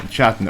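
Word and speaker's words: Chatton: Harry ChatOn or K I keep calling him shat I'm I'm saying it's a hard C chat ChatOn okay H from Cork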